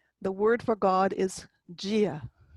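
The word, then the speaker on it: Dia: The word for God is Gia, because that D is sitting next to a slender I, so it gets a J sound. And you reach for the I with the fada, Gia.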